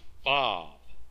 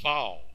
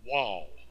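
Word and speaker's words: וו: The letter is pronounced Vav, V, or Vau, V-A-U. It is not pronounced Wal, which is W-A-W.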